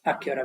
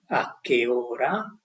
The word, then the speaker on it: a che ora: So you start with an neutral tone, a che ora, here you rise, And it tells you even the vowel O of ora has to be clearly pronounced. So it doesn't die in your mouth. It has to be clear. And then it goes higher on ra.